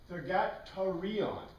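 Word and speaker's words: θυγάτηρ: So in Greek, we have this word Thugatron, Thugatarion, because in Greek you don't pronounce TR like we do in English. And Thugatr.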